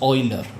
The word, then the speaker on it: Euler: going to use is called as this is pronounced as Euler.